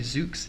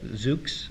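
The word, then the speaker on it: Zoox: you say that again i think it might be zuke's z-o-o-x okay zuke's i like that that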